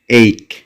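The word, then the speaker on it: ache: ব্যথা, এইক। ব্যথা, এইক। যদিও আমরা অনেকেই এক বলে থাকি, কিন্তু এর সঠিক উচ্চারণ হচ্ছে এইক।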